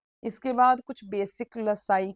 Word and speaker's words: loci: जब प्लूरल होती है उसको हम बोलते हैं LOCI, लोसाई। कैसे प्रोनाउंस करना है? लोसाई।